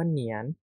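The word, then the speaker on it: 年: ว่า มี อะไร บ้าง คำ แรก นะ ครับอ่าน ว่า เหนียน เหนียน ตัว นี้ แปล ว่า ปี นะ ครับปี เนาะ อย่าง เช่น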